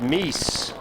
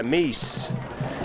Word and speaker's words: Meise: That was Joe Meise, M-E-I-S-E. Or I think it's pronounced Meese. Yeah, Meese. And Meese got 7 yards.